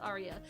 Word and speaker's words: Aria: I always get her name wrong because it's spelled weird. I call it Araya, but it's Aria. It's pronounced Aria.